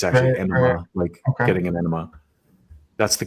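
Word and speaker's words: Ænima: Enema. It is Enema. Okay. Yeah. The joke being like, the double entendre, of course. It's like anima. It looks like anima, but it's actually enema, getting an enema.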